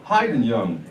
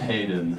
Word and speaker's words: Hayden: his name is heenen hien young hien young hien hi okay well you the